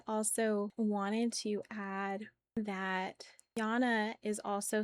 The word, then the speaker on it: Jana: And it's spelled differently, but it's pronounced the exact same way. Like Jana would be Y A N A and then Jana Moon Goddess would be J A N A.